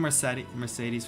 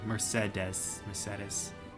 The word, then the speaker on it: Mercedes: Isn't Mercedes from Spanish origin? So it would be Mercedes. Yeah, I mean, so I guess it is pronounced right. It's just I'm used to hearing it as Mercedes.